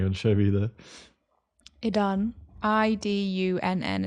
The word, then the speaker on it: Idunn: Idunn is how it's pronounced. I guess it'd be like Idun.